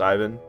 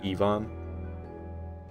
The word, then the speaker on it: Ivan: just spelled Ivan but it's not pronounced Ivan because he's Croatian so they pronounce it ion I will riddle